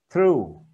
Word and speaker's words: through: Rồi dưới này thì đọc viết y chang như thế nhưng đọc là u, through.